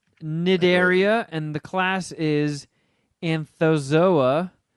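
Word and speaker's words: Cnidaria: in the phylum snideria c is silent nidaria and the class is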